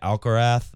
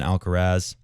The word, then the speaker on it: Alcaraz: people actually starting to say alkarath rather than alcaraz and then this is